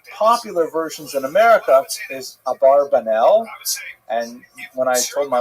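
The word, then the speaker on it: Abravanel: A barbanella ba a barbanell. You heard it. Um and um but the probably correct I'm following Netanyahu here. Probably correct is Abraanel. That's probably how he pronounced it more or less with my Canadian accent.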